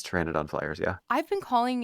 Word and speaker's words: Pteranodon: on like I mean I'm already like struggling with the silent P English is a dumb